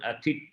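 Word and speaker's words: อาทิตย์: It's written Aditya, but they pronounce one Atit.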